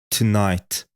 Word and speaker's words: tonight: wieczorze powtórzcie na głos zwróćcie uwagę na wymowę nie mówię t nie ma tam dźwięku u tylko Tonight Tonight free znaczy wolny powtórzcie